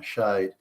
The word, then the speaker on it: shade: But the pronunciation is different. Instead of Schade, the sound at the end of the E, it's now shade.